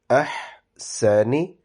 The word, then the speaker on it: أَحْسَنِ: After this, the word is ahsani. Ha is pronounced from your throat, but a very light sound, and it does not have a kalkala.